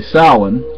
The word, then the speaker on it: Samhain: Almost didn't pronounce it correctly. Samhain.